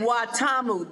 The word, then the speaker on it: Watamu: I've try I'm gonna try to pronounce it. Mombasa. Is that where you guys are? We're in Watamu.